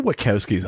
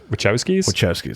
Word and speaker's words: Wachowskis: that they're like well get the watkowskis on it wachowskis so did i pronounce the wrong workout skis is what you said but which is it which house oh is it okay yeah get the wachowskis on it bring like